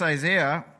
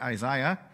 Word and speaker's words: Isaiah: Lord was Isaiah now this Isaiah or as the British say Isiah is one of the